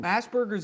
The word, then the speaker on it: Asperger's: Asperger's isn't even a diagnosis anymore. Yeah, it's look, not in the DSM. It's got a hard G at the end of it.